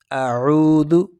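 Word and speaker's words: أعوذ: دینا۔ آگے ہے اعوذ، اس کی تلفظ پہ غور کریں، حمزہ سختی سے، عین کو نرمی سے، واو میں ہاف سیکنڈ آپ نے کھینچنا ہے۔ اگلا جو ہے ذال، اعوذ اعوذ، اسی طریقے سے آپ نے ذال کو کھینچنا نہیں، اعوذ۔ اگلا جو ہے باللہ،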